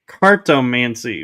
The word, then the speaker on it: cartomancy: pronounce it right. It's cartomancy.